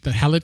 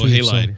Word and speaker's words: Halide: I think they also are the same developer that developed the Halid camera, HAILDE camera. I put that in there in the show notes too. Halide.